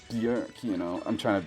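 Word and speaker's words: Björk: And I know most people call her Bork, but that's not the correct way of pronouncing her name, which sounds it sounds like I'm being a nerd about it. Like, actually, her name's pronounced Bork.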